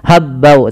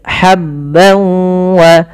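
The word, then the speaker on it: حبا: wa ha ha kecil hati-hati jangan sampai dibaca habbau tapi habb wa tanwin bertemu wau sebagaimana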